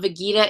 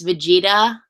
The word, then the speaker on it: Vegeta: when I found out that that it's not vegita it's Vegeta vegita seems so much more like ra anyways